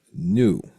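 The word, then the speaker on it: nu: it comes to light it's a Greek symbol that's called new like the new I got new car you know new and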